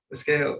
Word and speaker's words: Esquejo: do you say your last name race escuela escale okay um he's happened to be earl's cousin